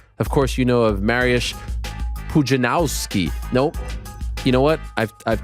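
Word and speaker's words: Mariusz Pudzianowski: i've taught myself that we've been saying it wrong for the past uh two decades marius pujanowski the w is a v in polish mariusz pujanowski legend ak marriage puzzinowski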